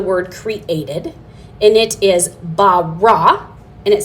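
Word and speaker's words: ברא: It's the word bara, and then you can go from there.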